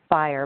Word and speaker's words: FHIR: healthcare interoperability resources so it's pronounced fire but it's spelled fhir and this is a